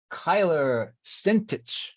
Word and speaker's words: Kyler Sentich: we're talking with uh Kyler sentich is that am I pronouncing that correctly correct well done well done most people don't get that at all oh well I I